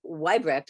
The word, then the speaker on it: Weibrecht: Bill schluger and my guest today is Andrew weibrecht am I pronouncing that correctly Andrew got it right yeah